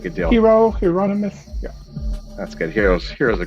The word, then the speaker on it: Hieronymus: Hieronymus? Hieronymus.